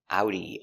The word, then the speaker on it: Audi: We pronounce it with the German pronunciation similar to German. Audi. Let's take a closer look at the pronunciation pronunciation of audi. Ow. Ow. Remember the sound is two sounds. It's a like apple and oo like boot together.